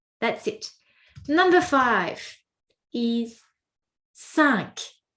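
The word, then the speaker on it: cinq: Number five is sank. Sanka sank. So weird because for that particular number we actually must pronounce the last letter.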